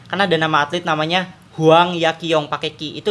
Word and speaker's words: Huang Yaqiong: kalau misal nih karena dan nama atlet namanya Huang yaqiong pakai itu dibacanya apa uang ya Ji Huang yaqiong ya Oh iya aku salah sering salah nyebut